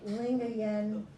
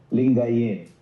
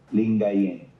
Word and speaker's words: Lingayen: because it didn't He was the archbishop of Lingen Dagapon. How do you pronounce that, Michael? Uh, or the Archbishop of what? Uh, L I N G A Y N D A G U P A N. Lingayen.